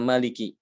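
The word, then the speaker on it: مَالِكِ: Kata maliki. Ini kan tidak ada alifnya ya.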